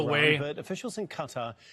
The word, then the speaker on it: Qatar: Issue, and also called on Israel Qatar, I think it's pronounced officially Qatar.